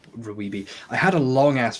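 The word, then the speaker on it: RWBY: bringing up ribbi uh Ruby R WBY yeah I call I pronounce it Rubi I had a long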